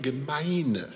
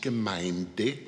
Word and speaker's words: Gemeine: In 2008, she received her doctorate from the University of Cologne, Pietism and Socialism, and now it's a question of precise pronunciation. The Herrenhuter Brüder Gemeine, not Gemeinde, the Herrenhuter Brüder Gemeine